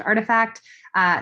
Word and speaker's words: RTFKT: Artifact, it's spelled RTFKT, but it's pronounced Artifact.